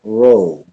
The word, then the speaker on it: Rho: known as the Chi roll the X is Chi in Greek and the P is pronounced ro Cairo which was the